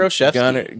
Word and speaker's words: Olszewski: Gunnar Olszewski.